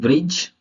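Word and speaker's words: bridge: पहले आया डी क्या जी से पहले आया डी साइलेंट होता है चलिए एग्जांपल देख लेते हैं ब्रिज okay as हैज बेज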